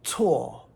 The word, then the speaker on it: 措: Another 4th tone, tswo, is this one.